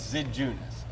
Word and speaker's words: Zidziunas: it written and then it's not pronounced the way it looks like it should be spelled so that's why